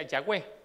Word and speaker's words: Yahweh: Y me parece interesante poderle decir por qué Yahweh, porque solo son unas letras que no lleva vocales, que es la letra YHWH, y se pronuncia Yahweh.